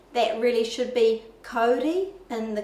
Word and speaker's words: kauri: our commonly used words, such as people say kauri, that really should be kauri in the correct Māori pronunciation.